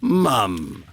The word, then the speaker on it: mum: I'll check with my mom to see if... Oh, that's so funny. You Americans say mom, and we say mum.